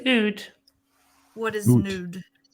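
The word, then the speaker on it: oud: nude and thank you it's not not even a loop then it's in it's an Ood what is nude how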